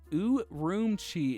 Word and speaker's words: Urumqi: Urumqi is how you pronounce.